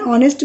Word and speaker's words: honest: Now say here, words beginning with a silent H. Here, an R, an honest man, an ear, an honorable man. So here everywhere H is silent.